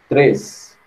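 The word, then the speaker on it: três: A gente coloca um i onde não existe, né? A pronúncia correta é 3.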